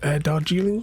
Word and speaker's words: Darjeeling: I think one of them was the Darjeeling one. That's how you pronounce it.